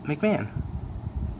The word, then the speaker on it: McMahon: McMahon.